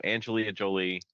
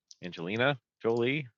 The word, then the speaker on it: Angelina Jolie: I I didn't write the DAT down so Angelia Jolie Angelina Jolie got to say her name right if we're